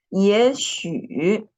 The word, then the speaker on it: 也许: This time what you wrote is 也斜 not 也斜许 the second syllable is 许 not 也许也许 Muhammad Javad Javid input your answer in the chat room no matter if it is wrong or right.